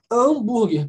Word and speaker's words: hambúrguer: hambúrguer porque ele é ele só pronunciar a ignoram h no português a gente não falo oh H oh h não tem nenhum então falo hambúrguer como se começasse com a Eu não falo funciona